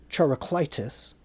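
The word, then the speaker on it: Charicleitus: The name Turacitis is spelled C H A R I C L I T-Us.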